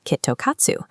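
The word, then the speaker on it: きっと勝つ: That sounds nearly identical to the Japanese phrase Kitto Katsu, which means guaranteed win.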